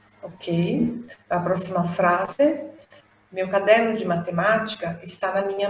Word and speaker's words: quaderno: Quando a gente tem o que no italiano, o U tem que ser pronunciado. Então, é quaderno.